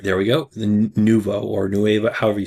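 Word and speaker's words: nouveau: The Nuvo or Nueva, however you say it. Pretty sure it's pronounced Nuvo, but that's the driver.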